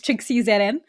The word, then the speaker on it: TrixxieZN: It's TrixxieZN. I say it's Trixxie with a silent ZN because the ZN is like just added on.